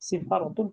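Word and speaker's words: سفارة: এই যে সিফারতি এইটা বানানটা ঠিক আছে স্যার নাকি এটা সাফারতি হবে? না সিফারতে ঠিক আছে, সিফারতুন হলো দূতাবাস। সিফারতুন, আচ্ছা।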